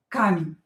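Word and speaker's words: камень: Kamen. E not stressed will be pronounced as i.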